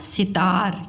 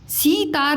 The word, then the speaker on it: सितार: सितार। क्या है ये? सितार। सीतार नहीं है, सितार। ठीक है। तो सी ता र सितार।